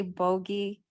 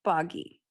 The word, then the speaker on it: Boggy: So if I say bogey, we're not saying the right film. So it's boggy, Yeah, but right?